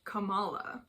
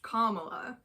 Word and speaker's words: Kamala: of the English language when you read her name it just comes out as like Camala but it's pronounced Kamala but I don't think